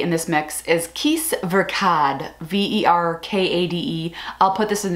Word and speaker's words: Verkade: Verkade, like Versace, Verkade.